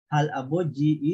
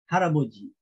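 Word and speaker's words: 할아버지: Okay, so the spelling will remain. But the pronunciation instead of halaboji is haraboji. Haraboji.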